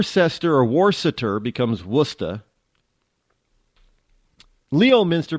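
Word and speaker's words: Leominster: or waret becomes wora Leo Minster becomes becomes lemonster I'm just just saying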